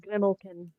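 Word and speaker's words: Grimalkin: m yep a l k i n it's pronounced grimlin grimlin okay there you go yeah it's based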